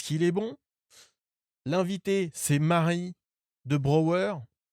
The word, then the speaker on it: Marie de Brauer: est bon l'invité c'est Marie de Brower Mary Mary of the brow comme c'est comme ça qu'il prononce c'est comme ça qu'il prononce à New York Go pour l'épisode Salut